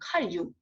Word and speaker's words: 칼 융: 이게 발음이 정인데 이렇게 정신 분석에 보면은 꿈을 해가지고 프로이드랑 같이 융이에요. 융 읽는 거는 칼 융.